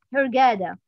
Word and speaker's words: Hurghada: Hurghada in غادة. زي غادة كده. Hurghada.